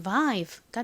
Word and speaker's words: vibe: 이렇게 모음이 2개 있고 끝 모음이 E인 경우 첫 번째 모음이 주로 장모음 소리가 난다고 말씀드렸죠. I의 장모음 소리는 I이니까 이 단어의 발음이 vive가 되는 겁니다.